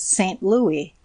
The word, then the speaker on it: St. Louis: I observed that all the citizens give it the old French pronunciation that is St. Louis. The final s not being sounded.